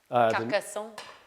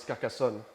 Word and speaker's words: Carcassonne: You can pronounce it. Carcassonne. Next one is Carcassonne. As the Frenchman, okay, Carcassonne.